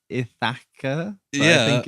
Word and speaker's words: Ithaca: i kept writing it it's thicker but it's ithaca yeah i think it's spelt it's said the same isn't it yeah